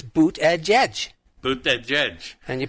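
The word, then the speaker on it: Buttigieg: name because they were sick of hearing people mispronounce his name uh-huh it's boot edge edge boot that judge and you put it together quickly it's Buddha judge right well guess what as of last night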